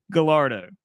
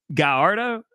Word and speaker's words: Gallardo: It's not right. It's Lamborghini. it's like, come on, man. Nope. The Lamborghini Gallardo. There you go. There you go. It's not spelled like that, my guy. It's spelled like that in Italian.